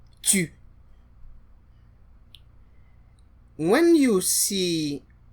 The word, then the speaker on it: tu: The letter U, or in French, is U, and the phonetic transcription for that is more like Y, U. And we saw that in words like tu. Comment t'appelles-tu? So this sound does not exist in English.